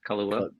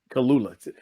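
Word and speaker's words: Kaluuya: two main character well Kiki Palmer and Daniel Kula is that how you say his name right Y close Kula yep Kula their characters are um their ancestry is part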